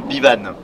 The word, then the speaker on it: Bivan: de caravane qui s'appelle Bivan. Alors pourquoi Bivan? Pour plein de choses. Alors Bivan en breton ça s'écrit B-E-V-A-N. Alors on a transformé le E en I pour la prononciation.